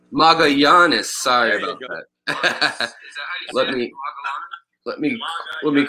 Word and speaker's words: Magallanes: Magallanes. Magallanes.